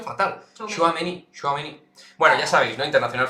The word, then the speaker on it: Tchouaméni: es el interés del Real Madrid por Aureli Tchouaméni.